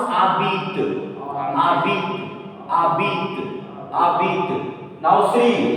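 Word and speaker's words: habites: Why abit? Because this word is not made of one syllable. Okay, this word is not made of maximum 3 letters. Ending with a s, so a s will remain silent.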